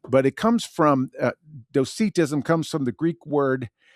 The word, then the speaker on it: Docetism: dosetism and then I looked up the actual pronunciation of this and it is dosetism.